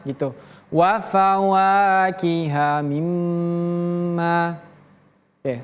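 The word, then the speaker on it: مِمَّا: Ingat mimnya bertasydid. Tadi kita sudah belajar kalau huruf nun dan huruf mim bertasydid maka tahannya agak lebih lama. Ditahan lebih lama. Wa fawakiha mimma gitu. Wa fawakiha mimma.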